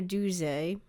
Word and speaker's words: Duse: Eleanor Doo, as that is apparently how her last name is pronounced, according to the biographer, Helen Shei. Uh, oddly enough, it is French.